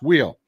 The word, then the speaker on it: Weil: I have always heard your name pronounced Wheel. That's it. Nailed it.